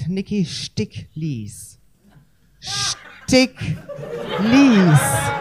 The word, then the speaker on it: Sticklies: real name stick please it's spelled STI ck l I guess you can remember it like the lies that stick I am just making